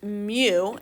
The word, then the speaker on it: mu: we use something the greek letter m it's pronounced mu mu and it really is just a curly